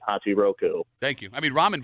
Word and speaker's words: Hachiroku: I was calling to correct you on how to pronounce that dude's name. It's Hachi Roku and I have nothing to say about the bomb.